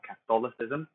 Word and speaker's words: Catholicism: In Catholicism, I say the O, Catholicism.